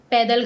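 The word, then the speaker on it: Padma: It's called the पद्दा bridge. It's written पादमा बट it's that's how it's pronounce called the पौदा bridge.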